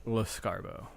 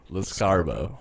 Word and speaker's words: Lescarbeau: Kyle Lescarbeau. Snarsbo. Escargot. How do you actually pronounce it? Because I don't know. Lescarbeau. Lescarbeau.